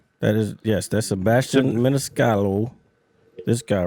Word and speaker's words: Maniscalco: Maniscalco. All right. No, there's a C at the end. It's Maniscalco.